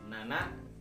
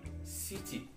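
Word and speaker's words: 七: Angka 7 dalam bahasa Jepang itu, awas, seperti angka 4 ada dua cara pengucapannya, yaitu angka nana dan shichi.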